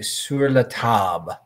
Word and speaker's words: Sur La Table: So Kelly, of course, is correcting me, sur la table.